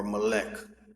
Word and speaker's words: Molech: Of Hinnom, to cause their sons and their daughters to pass through the fire of Molach, or molech. Some people pronounce it like that.